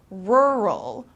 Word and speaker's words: rural: in a rural town this is complicated because you have two r's very close to each other so um so